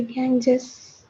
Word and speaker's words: Ganges: Did I pronounce it correctly? Is it Ganges? The Ganges.